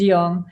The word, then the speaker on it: Jong: You pronounce it perfect. It's young, and it means young.